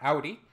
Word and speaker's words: Audi: So far, I was right for the Audi one because it's pronounced Audi, and I was sure it was pronounced Audi, not Audi.